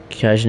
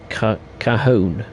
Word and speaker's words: Cajon: to go crazy dash mo java's pronounced oh mohave and cajun is preserved cajon cajon okay mohave and cajon yeah again apologies uh for